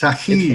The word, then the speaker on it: Taqi: Taqi, did I get anywhere close to Yeah, actually how it's pronounced? yeah, it's right. It's Taqi, right.